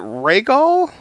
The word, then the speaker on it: Rhaegal: Is it Rhaegal? Yes. Okay. Yes, you're pronouncing it correctly.